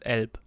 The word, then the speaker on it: Elb: In German it's not elf, it's elb. Elb. So with a B.